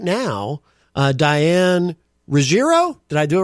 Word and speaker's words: Ruggiero: said I think I said it with a hard G like Rogerro or something. Well that's not a hard sounds better than Rogerio.